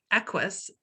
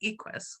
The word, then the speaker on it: Equus: it wrong but it's equus i think i've pronoun been pronouncing it equest which is my bad i'm really sorry but